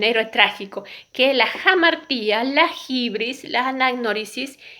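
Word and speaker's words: hamartía: trágico, que es la jamartía, la hibris, la anagnórisis y el patos. La jamartía, ¿sí? Se escribe con H, pero se pronuncia como J.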